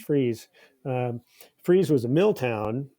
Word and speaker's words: Fries: is the town of freeze which is spelled like fries like french fries but pronounced freeze um freeze was a